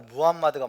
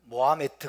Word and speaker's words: 무함마드: 말이 요즘 무함마드 라고요 아랍어로 무함마드가 맞는 발음 같아요 우리 어렸을 때는 모아 매트 계세요 모아 매트 라고 비었는데 무함마드를 그쵸 이슬람의 창시자